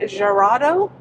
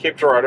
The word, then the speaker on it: Girardeau: We selected Cape Girardeau. How do you pronounce it? Cape Girardeau or Cape G.